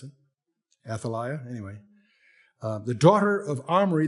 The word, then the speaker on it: Athaliah: And his mother's name was Athlia. I think that's the way you pronounce it. Athaliah.